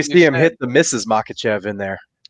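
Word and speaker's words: Makhachev: Uh, yeah, I know how to say it. It's Makachev and I think he dethrones him.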